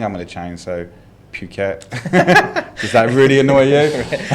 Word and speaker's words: Phuket: you know it is phuket now you know because i come from the uk which we pronounce the h and the u you know that's how